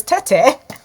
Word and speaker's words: Tettey: with me i i i've been told i've been mispronouncing their names so it's tete but before we went